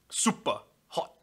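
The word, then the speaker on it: SUPERHOT: Like, no, you say it like you mean it, Brayden. Super hot.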